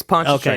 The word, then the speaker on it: Pontchartrain: answer to be Lake Pontchartrain in Louisiana. Yeah, Lake Pontchartrain. I don't know how to pronounce it. It's probably some That's what it French is. thing. No, it's Pontchartrain.